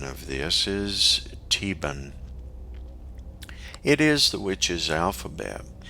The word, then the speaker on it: Theban: this should be called theban however in our case the h is silent and this comes from the german language this uh this term